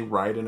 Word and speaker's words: Raiden: Ty I have a question did you say Ryden or Raiden I said Raiden it's Ryden right it you know what makes me laugh because it's spelled the same way r a i d